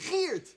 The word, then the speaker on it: Geert: Actually, it's pronounced Geert. Feert. Geert. Geert. Geert. Geert. I'll never get the hang of that.